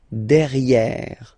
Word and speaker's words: derrière: So if you look carefully, you've got E here and then double R, so it will open the sound of this E, and you should pronounce it E, okay? Derrière.